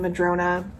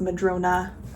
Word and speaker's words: Madrona: This is in Madrona, which somebody corrected me. I was saying it wrong. Um, I was saying Madron, but it is Madrona.